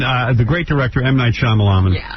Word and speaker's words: Shyamalan: Listen, uh the great director might Shyamalan. Yeah. And uh how do you say your last name? Shyamalan.